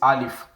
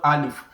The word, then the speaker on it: alif: i al if so the English equivalent of alif is something like father when you say